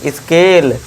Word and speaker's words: scale: S plus C क्या मिलकर sound देगा, उच्चारण क्या देना है, स और का, इसका का। अब देखिए SC आ गया तो इसे क्या पढ़ेंगे, स्केल, यानी कि पैमाना, जो